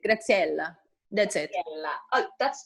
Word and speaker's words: Graziela: But every time I just say, like, pretend that you speak Italian. Just do it. Graziella.